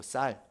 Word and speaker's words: 쌀: 살 갖고 왔나 이러면은 살이 아니고 쌀.